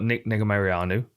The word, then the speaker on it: Negumereanu: Now I'm gonna do a terrible name of pronouncing this guy's name. So we've got Negumereanu.